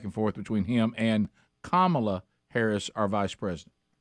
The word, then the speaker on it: Kamala: way remember early on stop calling her camela that shows you don't care enough to say her name right it's Kamala Harris we were also because